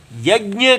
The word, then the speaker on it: यज्ञ: वह काफी देर से यज्ञ के ऊपर चल रही है य ज्ञ ठीक है उच्चारण इसका य ज्ञ ना हो य ज ऐसे य ज इसको ग नहीं पढ़ना है य ज य ज